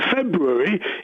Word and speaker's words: February: No one pronounces the first R.